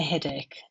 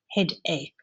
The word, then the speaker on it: headache: She has a headache, and you say it like a K. Headache, headache. We go to our office at 8 a.m.